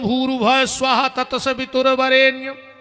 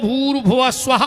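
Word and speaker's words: भूर्भुवः स्वः: हमें जोड़ के बताओ अपन बोला ओम भूर्भ स्वाहावर इसमें एक शब्द कम पड़ रहा गायत्री का सही उच्चारण है ओम भूर भुव स्वाहा ओम पर ओम कोई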